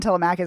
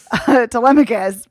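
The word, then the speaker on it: Telemachus: I always want to call him Tamakis. That's why it's like taking me a minute because I'm like that's not the way you pronounce it.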